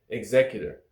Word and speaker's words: executor: The first time I did this video, I pronounced it wrong. I said executor. Bam, wrong. It's executor. Executor.